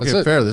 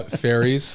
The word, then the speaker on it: Fairles: man thanks so be yeah you said it Fairless I want to make sure I got it